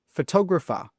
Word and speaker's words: photographer: So let me quickly show you some words that are often mispronounced by students. The first one is photographer.